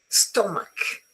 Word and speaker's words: stomach: There are some words in English which are written with a CH, but they are pronounced K, as in chemist, as in choir, psychiatry, ache, stomach, chaos, chasm.